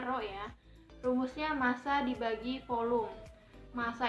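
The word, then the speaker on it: ρ: jenis tambangnya di situ Kayak P Tapi bacanya Rodja rumusnya massa dibagi volume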